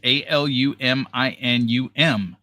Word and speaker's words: aluminum: The American spelling is a l u m i n u m and the British spelling is a l u m i n i m. Pronunciation for American is aluminum.